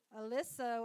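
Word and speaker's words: Oliso: Alisso.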